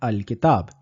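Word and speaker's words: الكتاب: So even if we try to pronounce, we at the most will say something like L Kitab, but it is clearly not fluent. In order to help us with the pronunciation, we will add this Hamza to Lamut Tarif and we will end up with the word al-kitab.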